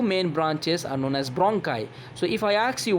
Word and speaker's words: bronchi: What is the correct pronunciation of this word? This is not bronchi or bronchi or bronchi, this is bronchi.